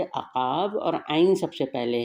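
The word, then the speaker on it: عقاب: अक़ाब, अक़ाब, आइन से अक़ाब, और आइन सबसे पहले है इसमें, आइन क़ाफ़ अलिफ, अक़ा, और ये बे जो है ये साइलेंट है या साकिन है, बे साकिन, अक़ाब, इसको ऐसे पढ़ेंगे।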